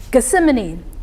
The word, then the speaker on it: Gethsemane: almost halfway through that polygon there, or just north of where I believe, excuse me if I pronounce this community wrong, Gethsemane, if you're familiar with that community. Gethsemane.